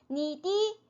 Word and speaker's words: 你的: 노래를 부를 때는 이 더가 D로 발음이 돼요. D. 그래서 니디, 笑容 이렇게 돼요. 니디, 笑容. 네, 우리가 말 대화할 때는 니더라고 발음을 하지만 네, 노래로 할 때, 노래 가사로 할 때는 니디, 笑容 이렇게 발음이 됩니다.